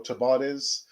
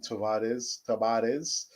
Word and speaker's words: Tavares: order mr nuno uh tavares or chabadis i prefer the spanish pronunciation tavares um i sort of